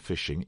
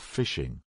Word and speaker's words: phishing: we should explain that even though the pronunciation is the same this variety of phishing is spelt with a pH and not an F right phishing is quite